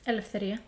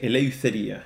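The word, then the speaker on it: ἐλευθερία: I would say eleutheria, because in our pronunciation, ypsilon has a U sound, like, as explained in a previous video, like the U of the U with umlaut in German, or the U in French, like musique, I think that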